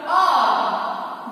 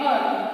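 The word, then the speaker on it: hour: Next, he returned after R. This H is silent here.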